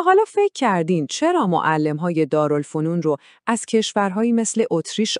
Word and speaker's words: دارالفنون: یه چیزی که علم و دانش رو تو خود ایران تولید کنه و اون راه حل بزرگ تأسیس دارالفنون بود. دقت کنید به تلفظش.